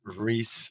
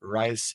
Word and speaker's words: Reis: My name is Reis, or Rice, if you want to pronounce it the American way.